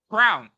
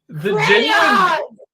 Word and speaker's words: crayon: Crown.